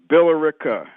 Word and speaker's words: Billerica: First of all, that town, Billerica. Okay. Not I mispronounced it.